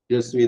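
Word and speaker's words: je suis: அப்ப ஜஸ்விங்கிறதும் ஐஆம்பருக்கும் ஐ ஃபாலோங்கிறதுக்கும் ஒரே ஸ்பெல்லிங், ஒரே உச்சரிப்பு என்பதை நினைவு கொள்ளுங்கள்.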